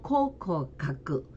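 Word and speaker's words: 考古学: 그럼 일본어 발음은 자, 코로 발음한다 그랬으니까 고고학은 코코가크, 그리고 고도는 코토 이렇게 발음이 됩니다.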